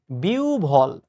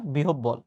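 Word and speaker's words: বিহ্বল: এরকম কিছু একটা তো এই যে বিউভল নট বিহবল দেখছো এটা কিন্তু পরীক্ষায় এসেছে এবং উচ্চারণটা কিন্তু সত্যিকার অর্থে কঠিন নট বিহবল এটা হচ্ছে বিউভল অসহ্য শব্দ উচ্চারণ আমার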